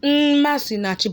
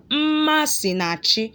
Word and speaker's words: Masinachi: spell it as nm we also have masinachi mas naji is not masinati but masinachi so it should be m and not nm that's all for the semi